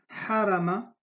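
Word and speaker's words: هرم: Para los hispanohablantes les cuesta un poco de pronunciar esta, lo pronuncian J, pero en H, H, harama, harama.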